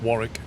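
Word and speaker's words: Warwick: You don't pronounce the second W, John. It's Warrick. Just Warrick. As if there was no second W.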